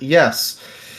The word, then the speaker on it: Ys: I've been playing the game, the very long running Ease series, YS, because Yes. that's spelled and pronounced weird. Yes, the Yes series, Yes 8 Yeah.